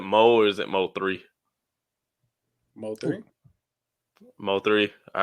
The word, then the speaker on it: Mo3: Mo3.